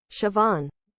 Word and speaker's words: Siobhan: There is a rule. If you look at a Gaelic word and you think you know how to pronounce it, you don't. Because you don't pronounce Gaelic how it looks.